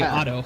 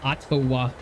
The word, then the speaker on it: Ottawa: okay that was like I heard you say Auto I'm like it's Ottawa wait here we go